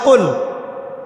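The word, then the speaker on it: قل: যেমন কফ দিয়ে একটা শব্দ আছে কল।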